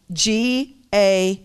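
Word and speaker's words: גאל: The word redeems, it's the Hebrew word that is spelled G-A-A-L. It's pronounced Ga'al.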